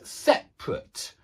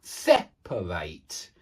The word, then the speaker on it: separate: Now, you can hear there's a pronunciation difference. What's the difference? Well, you've got the stress on the same syllable in both of them. In the adjective, it's separate. And in the verb, it's separate.